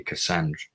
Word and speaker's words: Cassandra: Cassandra. You don't pronounce the R.